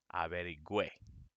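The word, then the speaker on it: averigüé: So to keep the gua sound, you have to write it like this, averigüe. Now it is pronounced averigüe. Averiguar, averigüe. That makes it go gua.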